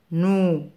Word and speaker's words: nous: N avec le son ou se prononce nous. Nous.